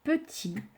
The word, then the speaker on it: petit: Je remets, pour vous remémorer également, le T muet de petit, que l'on ne prononce pas, mais que l'on écrit.